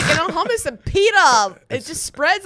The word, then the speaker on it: hummus: It's like hummus and pita. It just spreads on their skin. It's pronounced hummus. Hummus.